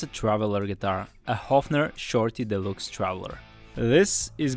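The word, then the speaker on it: Höfner: The Hofner company is no joke, and I was right, it is a soft O, it's pronounced Hofner.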